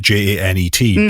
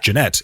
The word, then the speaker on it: Jeanette: she says her name they still pronounce it j-a-n-e-t janet yeah jeanette it's it's actually it's not even a different pronunciation of janet it's a different name it's that thing that